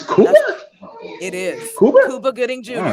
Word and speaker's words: Cuba Gooding: Nah, I would say Cuban Gooding I Jr. really do. Cuba. All right. Trey says Cuba. No, Cuban Gooding Jr. That man's name is pronounced Cuba. Is Cuba? That's it is. Cuba? Cuba Gooding All Jr.